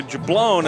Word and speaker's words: Jablone: So the pronunciation that they gave, there's a G in there, and my mind put in the hard G to it instead of that soft G for the Jablone.